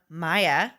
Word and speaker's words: Maya: So the first one comes to us from Maya. We now know how to say her name. She corrected. It's not Maja.